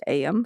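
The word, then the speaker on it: Eyam: It's spelled E-Y-A-M, but from my understanding, it's pronounced Ayam from what I've researched.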